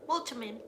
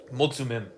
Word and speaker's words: Mulțumim: Multimin. There's an accent on the T, Ivana. Mulțumim.